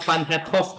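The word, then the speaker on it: Van 't Hoff: Faktor Van het Hoff bacanya ya.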